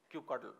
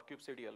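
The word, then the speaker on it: kubectl: the entire experience of queue cuddle or cube cereal whichever way you want to pronounce it so it is that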